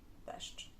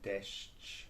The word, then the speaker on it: deszcz: Like De, sz, sz, sz, ch, deszcz, deszcz, ch, deszcz. deszcz. This one is very tricky because it has sh and ch next to each other, which In English we never do that.